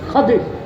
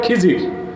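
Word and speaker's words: خضر: খাদির বিফাতহিল খা ওয়া কাসরিদ দাদ, খাদির। এটারে বক্তারা বলে খিজির, তো জনগণ বলে খোয়াস খিজির। কি বলে? হবে খাজা খাদির, হবে কি খাদির। আমরা বলি খোয়াস খিজির। আমাদের উচ্চারণগুলো ঠিক হওয়া উচিত, ঠিক না?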